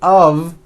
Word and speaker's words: of: speakers make this mistake even though the word of is spelled with an F we pronounce the word of with a voiced V I know this sounds